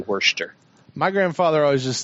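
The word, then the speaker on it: Worcester: Shire just they've got Wurster because it's because it's because it's named after a town workers from an interesting no it's no the town's werster werster okay and Shire over there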